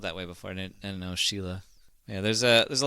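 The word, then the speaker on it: Síle: o b a n Sheila is s i l e did you know that I did not know I've seen uh s e like spelled that way before and know Sheila yeah there's a there's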